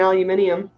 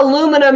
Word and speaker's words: aluminium: pronounced both eyes and aluminium I do it's not aluminum you unbelievable American rejected bear its aluminium you got 30 so